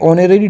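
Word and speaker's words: honorary: तो ऑनरेरी की जो साउंड है, जो प्रोनाउंसिएशन है, ये स्टार्ट हो रही है वोवेल साउंड से स्टार्ट हो रही है।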